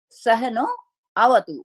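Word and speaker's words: सह नाववतु: टू, गुरु और शिष्य सहनो अवतु, ये संधि हुई हुई है, लेकिन जब हम इसको विश्लेष करेंगे तो सहनो अवतु, लेकिन जब हम उच्चारण करेंगे, क्योंकि ये यजुष है, तो सहना अवतु, तो मतलब हम गुरु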